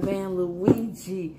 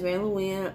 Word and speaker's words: Van Leuwen: go here to fucking Van Luigi. Now let me tell y'all something. I posted something with Van Leuwen. I know how to say it. It's Van Leuwen.